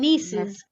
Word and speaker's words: nieces: ভাতিজা Nephews, nephews, nephews, nephews, nephews, not nephews, F-U's, nephews, and nieces, nieces, not nieces. It's knee, টান হবে, nieces, nieces, nieces, nieces, nieces, right?